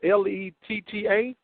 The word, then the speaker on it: Lira: It's pronounced Letta? Yeah, that's how it's pronounced. I'm a radio guy, so I have to work this out to where I don't be messing you up, because it's spelled Lira, and you got Lita out of that.